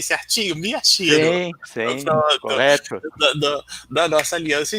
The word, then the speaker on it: Miyashiro: letra E, é o nosso querido Eduardo Miyashiro, pronunciei certinho? Miyashiro.